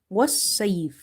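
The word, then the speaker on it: والصيف: But in case of madde lin arid, it's best to do qasr. Qasr means to shorten it. And if this is like a madde arid, like this, Raheem, it's best to stretch it up to three alif. So, here we will say was sayf.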